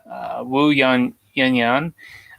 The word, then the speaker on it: Wu Yan: Wu Yan.